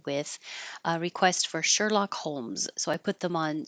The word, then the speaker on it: Holmes: by itself Sherlock and the second one Holmes this L is a dark l so you don't have to make a perfect l in the front the middle of your tongue can just rise holes Holmes Sherlock Holmes you might hear a k when you Sherlock Holmes Holmes that's okay because you're releasing the air Sherlock Holmes hairy we